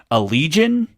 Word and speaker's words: Allegaeon: A band called Allegion, spelt weird. It's spelled Allegaeon.